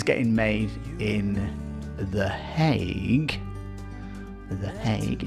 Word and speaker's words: The Hague: The Hague is how you pronounce this thing.